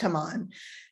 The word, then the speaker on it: Haman: And what is also interesting is that Haman, I call him Haman, whatever, it's pronounced Haman, sends the orders nearly a year in advance of the chosen date.